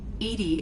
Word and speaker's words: EDI: are you named edie edie is the phonetic pronunciation of edi that is an acronym